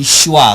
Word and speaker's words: schwa: vowel number 12 and that is called the schwa swatches Swami is belt SCH w a s